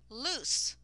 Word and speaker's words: loose: your key all right the second one is pronounced with an S sound this is loose and it is an